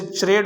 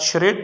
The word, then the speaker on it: charade: जैसे आपने देखा CH चे की आवाज़ देता है, इसे चरेड होना चाहिए था। और कुछ लोग इसे चरेड ही पढ़ते होंगे, लेकिन जिन्हें सही प्रोनाउंसिएशन का पता है वो इसे शीन की आवाज़ के साथ शरेड पढ़ते हैं।